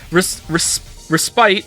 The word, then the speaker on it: respite: Respite is pronounced as if there were no E.